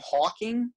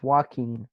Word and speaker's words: Joaquin: Is his name Hawking or Joaquin. Jacqueline? It's Joaquin. Joaquin. Joaquin. Like he's walking.